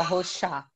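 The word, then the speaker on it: Rorschach: Rochar? A gente fala Rocha no Brasil, mas Rocha. Fala Rochá.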